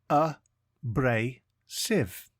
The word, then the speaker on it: abrasive: one word at a time today's word is abrasive it is pronounced a bra Civ and spelled a b r a s i